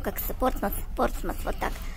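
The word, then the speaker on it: Portsmouth: Если кто-то еще будет говорить, что надо говорить Портсмут на букву Т в конце, то, пожалуйста, еще раз послушайте. Это Портсмус, английское произношение, а Портсмут пишут, наверное, у нас на российских картах. Но здесь Портсмут не говорят. Говорят Портсмус. Вот поэтому объясняю еще раз.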